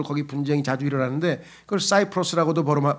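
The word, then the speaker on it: Cyprus: 지역이에요 그래서 국제적으로 거기 분쟁이 자주 일어나는데 그걸 사이프로스 고도음 발음하고 영어식으로 그다음에 그리스 발음 식으로 하면은 키프로스 하잖아요 그죠 라틴어로 하면 그러니까 요런 것들이 그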